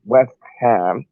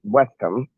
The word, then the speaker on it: West Ham: ham because it's pronounced west ham not western you know what i